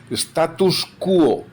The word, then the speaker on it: status quo: Status quo, sin la S final.